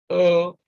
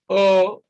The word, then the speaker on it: overwhelming: So if in option B, you decide to put stress on VER, then you distort the sound because you will be pronouncing this overwhelming, which of course doesn't sound natural. Then C, we have overwhelming, which actually is quite correct.